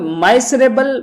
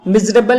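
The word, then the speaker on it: miserable: माइसर अलग है, कंजूस के लिए बोला जाता है, और इसका प्रोनाउंसिएशन आप माइसरेबल मत कर देना, मतलब आप इसका प्रोनाउंसिएशन जरूर याद रखिएगा। मिजरेबल इसे बोला जाता है।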